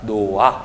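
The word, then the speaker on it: 놓아: 그래서 발음할 때 어떻게 발음한다? 노아 이런 식으로 발음한다는 거죠.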